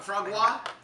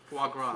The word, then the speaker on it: foie gras: Frog gras? Foie gras.